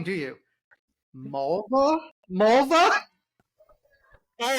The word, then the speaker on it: Mulva: my name do you mulva mulva all right he said it REM rhymes with a female body yeah that's oh God